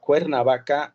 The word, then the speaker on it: Cuernavaca: The name is Cuernavaca. I know that it is difficult to pronounce, but it is Cuernavaca, and it is known as the place of the eternal spring.